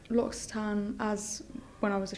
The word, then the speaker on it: L'Occitane: Because obviously, L'Occitane, is that how you say it?